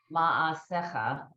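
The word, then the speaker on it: מעשיך: This is a shin. I know. I mean a sin. I'm sorry, yeah. it's a sin. I know the sin is on the right. Sin is always right. Okay. Ma'as sha. Okay, this is S sound.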